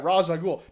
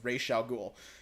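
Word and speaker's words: Ra's al Ghul: the writers like yeah raja ghoul but the guy who played race was like actually read the comics and was like no it's ray chalgool like that he pronounced it correctly i mean hey good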